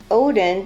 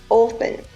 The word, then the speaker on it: Odin: The chief of the Norse gods is pronounced Odin by us Americans, but the original pronunciation was Othin.